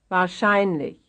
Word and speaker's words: wahrscheinlich: Konsulat, Konsulat, Konsulat, 38, wahrscheinlich, Here's another one having its stress on the second to last syllable. wahrscheinlich, 39, When two words